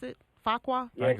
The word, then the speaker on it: Fuqua: Fuqua. Is it? How do you pronounce it? Fuqua.